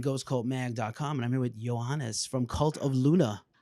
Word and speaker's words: Johannes: Johannes.